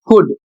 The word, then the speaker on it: could: शब्द है डब्ल्यू ए एल के और इसका उच्चारण होता है वॉक और इसकी हिंदी होती है चलना। अगला शब्द है कुड सी ओ यू एल डी कुड इसका अर्थ सकता था।